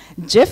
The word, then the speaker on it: GIF: images screenshots gif animations I pronounced it Jeff so don't argue with me Jeff animations videos and screenshots